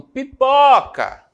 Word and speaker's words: pipoca: Não é a última, né? Não é pipocar, é pipoca. Está destacado aqui pra gente. Então, é a penúltima sílaba da palavra, o pó.